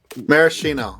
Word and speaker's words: maraschino: as a maraschino cherries yes it's Kino maraschino okay say we but the